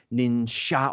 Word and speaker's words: ninja: of writing however it's the two ways of saying it the shinobi no mono is the Japanese Way ninja or Ninja is the mock Chinese Way that's why and however